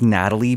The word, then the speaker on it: Nathalie: So I went with, I think it's Natalie, but it's spelled Nathalie Emmanuel from Game of Thrones, Fast and Furious.